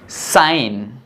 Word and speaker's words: sign: ये वर्ड है जिनके अंदर जी के तुरंत बाद में एन आ रहा है और इसी कारण जो हमारा जी है वो साइलेंट है।